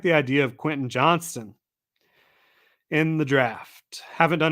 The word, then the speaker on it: Quentin Johnston: better it's Johnston right is it Quentin Johnson or Quentin Johnston not that it really matters but I gotta verify this I don't want to be saying the guy's name wrong constant yeah it is Quentin Johnston um and he's at